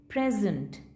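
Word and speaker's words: present: तो जब ये नाउन है ना, तो इसका स्ट्रेस कहाँ पे है, स्टार्टिंग में है, फर्स्ट सिलेबल पे। So this is pronounced प्रेजेंट।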